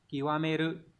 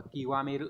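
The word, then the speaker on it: 究める: mà âm cương của nó ấy, sẽ là kiwameru. Đấy, có nghĩa là tìm tòi đến cùng này. Đây, đọc là kiwameru các bạn nhé.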